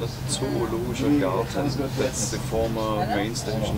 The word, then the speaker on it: Zoologischer Garten: What's the correct pronunciation, Frank? That's German, we call it Zoologischer Garten.